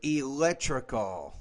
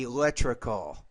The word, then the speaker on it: electrical: to the atomic level I'm going to say this word electrical you're not pronouncing correctly electrical let's read this sentence